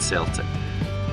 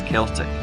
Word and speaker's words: Celtic: team, to be called Celtic. In fact though, Walfrid always pronounced this as Celtic, though he didn't get his way in how the new club would be known.